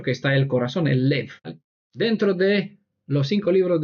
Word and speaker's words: לב: corazón en hebreo se dice lev y se escribe con lamed y bet, tal como el pesaj, ¿no?